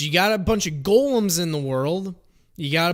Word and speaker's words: golem: you have to understand where gol it's not gollum hey guys it's not gollum it's gollum that's how you pronounce it it's golem because it's based off of um jewish uh